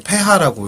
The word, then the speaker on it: pH: 흔히 이제 우리 pH로 알고 있는데 정식으로 폐하라고 읽는다고 하더라고요.